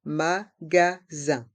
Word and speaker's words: magasin: Dans le mot magasin, il y a le son un avec les lettres I et N. Et le S est entre deux voyelles, donc on le prononce Z.